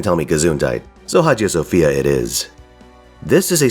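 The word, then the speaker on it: Hagia Sophia: our journey begins with Haj Sophia's prayer my understanding is that it's actually pronounced something closer to AIA Sophia with a silent h but if I say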